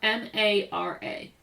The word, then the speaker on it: Mara: How do you pronounce her name? Mara. How is it spelled? M A R A.